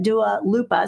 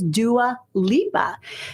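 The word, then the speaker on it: Dua Lipa: made that mistake so I pronounced it daal Lupa so it is Dua Lea so um I'm turning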